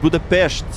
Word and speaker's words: Budapest: It's not Budapest. It's Budapestt. Budapestt. That's how you say it. That's how Hungarians say it.